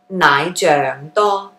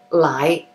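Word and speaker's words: 奶: another similar one where nai is the more proper way to say it and lie is usually what you'll hear okay so li comes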